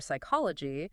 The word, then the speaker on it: psychology: Well, we also have the sneaky B, H, and P. Sneaky. They pop up in places like doubt or hour or psychology.